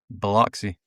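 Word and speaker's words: Biloxi: Bloxy.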